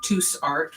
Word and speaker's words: Tous: I don't know if Tous Art, which is spelled like goose but with a T, or Gortzman's sells gel plates.